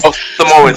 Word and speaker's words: Samoan: Samoan Samoan.